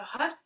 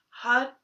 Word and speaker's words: Har: And so Har, H-A-R, we pronounce the tip of the tongue on the R hits the roof of the mouth, so it sounds a bit like H-A-D, and we engage the